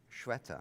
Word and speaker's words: Shweta: India, right, says that your name is pronounced Shweta. Shata. He says, no, you've got it wrong. I've got it wrong. Shutta, like shut the door. Shutta your mouth. I'm fine with any pronunciation as long as it's not shitta.